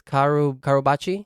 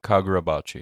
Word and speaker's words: Kagurabachi: Karubachi? Kagurabachi, yeah.